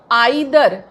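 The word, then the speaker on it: either: Each आता है, आइदर, इसको ईदर भी बोला जाता है, नाइदर, इसको नीदर भी बोला जाता है। तो जो ईदर एंड नीदर है ये अमेरिकन प्रोनाउंसिएशन है और आइदर एंड नाइदर British pronunciation है, बट बोथ आर करेक्ट।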